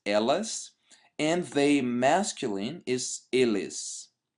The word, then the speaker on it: eles: So they feminine is elas, and they masculine is eles, right? But we would actually pronounce eles.